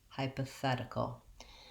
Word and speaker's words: hypothetical: from the back oh hypothetical again my length is on this fed syllable and the other syllables are short and reduced so we have again